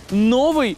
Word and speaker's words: новий: буде свято Тільки от цікаво як правильно називати Новий рік чи новий і ще один наголос звучить так ми з вами зранку починаємо